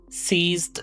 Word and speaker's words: seize: Pronunciation: CEASE, siːs. SEIZE, siːz. They sound very similar, but not exactly the same.